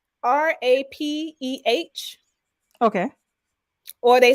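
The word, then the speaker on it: rapé: It's Rapeh. Okay. Or they spell it Hape. Yeah, okay. Okay. But usually it's Rapeh.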